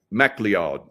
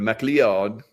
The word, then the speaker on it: MacLeod: And her last name is MacLeod, M-A-C, I better spell it, L-E-O-D, MacLeod.